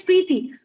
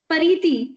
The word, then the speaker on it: Preeti: As my name is Preeti. But what if somebody speaks my name Pariti?